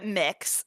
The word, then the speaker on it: Mx: do I pronounce it MX what does it stand for uh mix so it's uh you